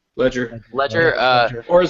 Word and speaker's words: Legere: Ledger. Ledger. Ledger. Uh or like as we like to say on the show, Leger.